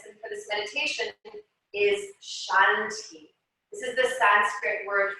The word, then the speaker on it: Shanti: bringing one syllable to each inhale and one syllable to each exhale. So our mantra for this practice and for this meditation is Shanti.